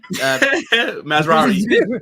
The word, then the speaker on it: Mazraoui: Sorry, Mazraoui. Euro's out. Masraoui. All right, my pronunciation's poor.